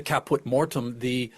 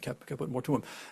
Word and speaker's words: caput mortuum: Être suprême, the supreme being, and that's what he calls the caput mortem, or wait, hold on, am I pronouncing it? Mortuum? There are two U's in that, caput mortuum.